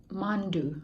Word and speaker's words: mandu: do you pronounce it mandu mangu like kathmandu but the end of the mandu yeah it's called mandu look at that okay